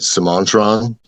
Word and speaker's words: Semantron: Am I pronouncing that correctly? Yeah, you know, funny enough, I call it Somantron, but it's it's an old enough word that we don't know what vowel what the vowels would have actually sounded like.